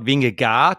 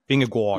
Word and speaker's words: Vingegaard: I just feel like, but yeah, it's not Vingegaard. It's Vingegaard. Yeah. Vingegaard. Okay. I think you are much closer to the other Scandinavian languages there. They would say they pronounce it right, but obviously, you know, the guy's Danish, so we go with how he says it.